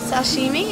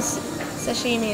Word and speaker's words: sashimi: have that much s Sashimi is that how you say it yeah yeah Sashimi is just a size of fish